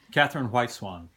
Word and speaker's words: Catherine White-Swan: Catherine White-Swan.